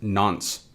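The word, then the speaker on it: nonce: Now moving on from that we have this n pronounced nons.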